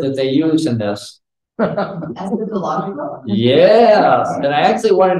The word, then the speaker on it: eschatological: Eschatological. Yes, and I actually wanted to make sure I pronounce it. Eschatological.